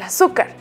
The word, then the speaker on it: azúcar: la cocina ahí el azúcar la palabra azúcar tiene acento en la en la vocal u Qué otra palabra tiene